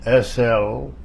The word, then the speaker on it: Slugocki: My name is Slugocki, S-L-U-G-O-C-K-I, pronounced Slugocki. C pronounces as in French, silent S.